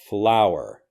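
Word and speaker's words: flour: and this has flower flower flower flower and this is the same pronunciation as the actual flower that grows out of the ground flower flower finally we'll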